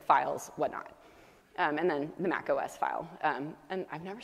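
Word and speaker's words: Mach-O: whatnot and then the Mac OS file and I've never said this out loud I think it's pronounced Mako Maco the form of the file format mac o um so that's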